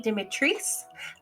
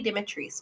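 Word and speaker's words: Dimitrescu: beginning with the red which is lady dimitris that's how you're supposed to say it in the game i believe i don't play resident evil village but i looked up some youtube videos and they said in the game it's lady demetris but if it's in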